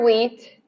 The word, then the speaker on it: wheat: silent letters yeah but english has random silent letters too like in the word wheat why is there an h yeah we we